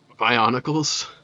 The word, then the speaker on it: Bionicles: Bionicles.